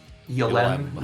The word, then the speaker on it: Ylem: Yulem. And I don't know how to say it. It's YLEM. Yulem.